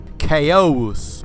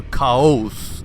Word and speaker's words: Kaous: to talk about today it is called chaos or kaaos depending on how you want to spell that thing it is spelled k a o u s and our primary source